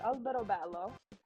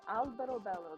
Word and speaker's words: Alberobello: There's a town by me called Alberobello, and since I don't really have internet right